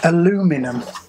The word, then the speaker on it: aluminium: Aluminium is pronounced aluminum.